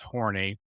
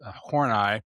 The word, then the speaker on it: Horney: Her last name is actually spelled Horney, which in English is pronounced horny. So whenever I present it to my students, they always giggle, of course. But the German is pronounced Horney.